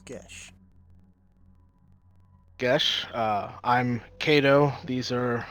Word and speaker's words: Gesh: Am I pronouncing that right? Yes, the name is Gesh.